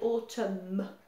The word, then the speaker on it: autumn: In English, we say, même si un N à la fin, on ne le prononce pas, we say autumn with a M at the end.